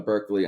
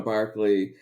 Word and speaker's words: Berkeley: I used to call him Governor Berkeley until someone corrected me. It's actually pronounced Barclay.